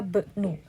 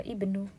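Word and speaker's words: ابن: Ini karena kata ibnu ada di tengah kalimat, jadi kita bacanya dhahaba bnu, bukan dhahaba ibnu.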